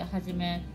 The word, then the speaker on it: 一: めさん、漢字の 1 ではじめって読みます。